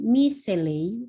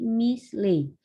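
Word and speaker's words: מִשְׁלֵי: Bukan miseley, tapi misley. Sorry, saya ulang. Ini bukan bacanya bukan miseley, tapi misley. Kenapa begitu? Karena tanda seva ini terletak di setelah huruf mi.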